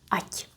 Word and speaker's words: ať: They are not pronounced as strongly, so we would pronounce it kind of halfway. Ať, ať. Kind of whisper.